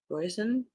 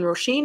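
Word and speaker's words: Róisín: Mary McFarland oh there's an Irish name when poison and Joe it's that's absolutely not the right way to pronounce that roshin pronounced roshin okay good to know when rosheen and Joe joined their friends for a weekend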